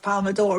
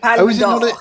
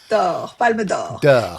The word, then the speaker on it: Palme d'Or: Palm d'Or. Palme d'Or. It's not a door. It's of gold. Sorry. Palme d'Or.